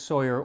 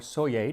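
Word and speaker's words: Soyer: Also, this is actually the second recipe for spotted dick that Alexis Sawyer or Soy, depending on how you want to pronounce it, put down in writing.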